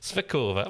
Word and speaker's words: Svíčková: On the way here, we stopped at 7 drive-through Svíčková. Svíčková. You have to say it with that intonation. Svíčková.